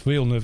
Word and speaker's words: Villeneuve: I loved what Villeneuve, it's Villeneuve, I don't want to pronounce the guy's name wrong.